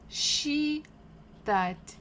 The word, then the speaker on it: считать: Номер два, считать, считать. We stress, the stress falls on a.